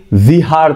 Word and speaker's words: विहार: बिहार है ही नहीं बिहार का नाम मिस प्रोनंसिएशन हुआ है उच्चारण की गलती हुई इसलिए हमारा प्रदेश का नाम बिहार बोला गया वो एक्चुअली विहार था वी एज in Victor I एच ए आर जहां बुद्धिस्ट मंक लोग रात में रुकते थे उसका उच्चारण 12वी शताब्दी में जब बख्तियार खिलजी आए उच्चारण कर नहीं पाए तो विहार बन गया क्या बिहार समझे सिंधु